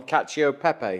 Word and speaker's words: cacio e pepe: We've had a little debate in here on how to pronounce it, and we've settled on cacio e pepe, haven't we?